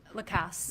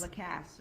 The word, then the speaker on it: Lacasse: I'm sorry, how do you pronounce it? Lacasse. Lacasse.